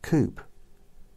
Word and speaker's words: coupe: a coupe you know I just realized Coupe rhymes with soup so here's a space